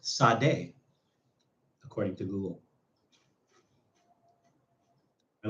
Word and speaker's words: Sade: It's pronounced Sade, according to Google.